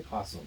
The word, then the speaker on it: opossum: I say possum. Everybody says possum, but It's it's possum. spelled It's O-P. opossum.